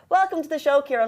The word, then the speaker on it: Ciaran: My wife calls me many names, but she generally gets the pronunciation right. But the priest at my wedding day called me Karen. So I get Karen, I get Ciaran, I get Sharon, I get many different